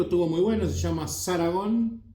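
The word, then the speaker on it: Zaragón: Me gusta este disco, estuvo muy bueno, se llama Saragón, no Paragón, se llama Saragón con Z, Saragón.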